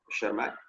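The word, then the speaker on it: Tschermak: T silent है, शर्मैक। दे independently rediscovered Mendel's work.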